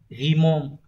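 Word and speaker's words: 疑問: Nghi vấn sẽ đọc là Ghimon.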